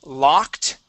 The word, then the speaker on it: locked: go to the word locked okay instead of yeah instead of Lo L it is La locked L great okay this